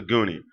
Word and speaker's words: Nguni: as the Nguni, and I'm not pronouncing the N because every time I pronounce the N, somebody tells me we don't pronounce the N, it's silent. So I don't know if the N is pronounced or not, but normally y'all tell me, Bantu people tell me it's not.